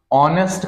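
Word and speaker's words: honest: और भाई rule of article, ऑनेस्ट का प्रोनाउंसिएशन आपका ओ से होता है, तो इसके पहले में एन का यूज करना पड़ता है।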